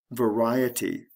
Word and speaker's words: variety: Various, variety. The stress shifts from the first syllable to the second syllable.